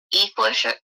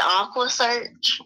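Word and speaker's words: EquuSearch: He mispronounced Equasearch. And he said Aqua Search.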